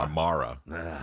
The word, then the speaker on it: Amara: Amara. It's Amara, like mayor.